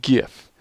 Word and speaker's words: GIF: It is pronounced GIF, and anyone who insists that it isn't is either simply innocently